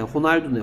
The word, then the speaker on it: Ronaldo: 얘를 호날두라고 읽기도 합니다. 얘가 H 발음으로 하는 동네도 있어요. R을 H처럼 발음하는 동네도 있어요. 그러니까 그렇죠. Portuguese죠. 포르투갈 발음으로는 R이 H입니다. 그래서 얘를 호날두라고 읽어요.